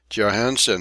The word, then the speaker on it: Johansen: or three times with wolf Larson of the pronunciation of his name Johansen he thrashed on the admit ships deck the